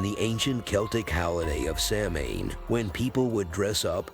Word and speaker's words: Samhain: The History of Halloween The ancient Celtic celebration of Samhain is where Halloween got its start (pronounced sow-in).